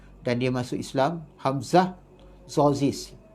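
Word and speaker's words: Tzortzis: Hamzah Zozis. Ejaan dia T-Z-O-R-T-Z-I-S, kalau tak salah saya ejaan dia Hamzah Zozis.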